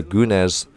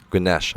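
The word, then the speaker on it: Güneş: love that celebration from gunes there ganesh i think her name is pronounced gunas i apologize to all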